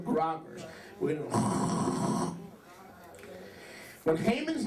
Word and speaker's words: Haman: and you're blotting out Haman's name from under heaven. Okay? And by the way, Haman, do you notice Haman's name rhymes with another name? Haman, Satan, Haman.